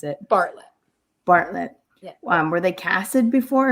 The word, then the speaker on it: Bartlett: I never know how to pronounce it. Bartlett. Bartlett.